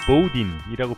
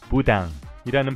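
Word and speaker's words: Boudin: 미국인들은 식당 이름을 보우딘이라고 부르지만 원래 프랑스어 이름이기 때문에 부당이라는 발음이 정확한 발음이랍니다.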